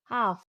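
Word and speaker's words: half: तो जब एल से पहले ए, ई, ओ, यू आए तो एल साइलेंट होता है। जैसे हाफ, टॉक्स, फग, योक, कुड और शुड।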